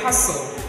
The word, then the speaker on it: hustle: Next one, we say hustle. Watch my mouth again. Hustle. Again, hustle. Hustle.